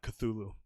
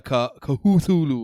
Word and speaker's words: Cthulhu: that on the show it is not cthulhu they they're they're it's it's weird how there's there's a lot of oh so it's actually it's more like it's something that i can't pronounce yeah exactly because it wants you to almost like like a kahutulu or something like this the actual way